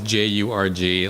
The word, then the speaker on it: Jurg: Yeah, so first name is Jurg, last name is.